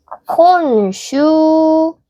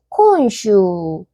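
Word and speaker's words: 今週: 이번 주 한자로는 이렇게 쓰고 이번 주 하고 콘슈라고 읽습니다. 어때요? 주 슈 발음 비슷하지 않나요? 주 슈 그리고 얘를 콘으로 읽는 건 우리 콘니티와 했을 때 한번 말씀드린 적 있었죠. 이번 주 콘슈 이번 주 콘슈 그다음에 지난주는 뭘까요?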